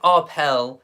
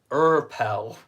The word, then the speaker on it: Arpels: It's not Arpel, it's Urpel. Arpels.